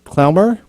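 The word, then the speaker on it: Klemmer: can spell my last name my name is pronounced clemmer but that's fine just call me chris chris okay good good nathan can nathan can say that word so clemmer yeah i can say that no not word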